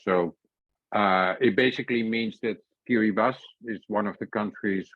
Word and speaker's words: Kiribati: You write Kiribati, but you pronounce it Kiribati.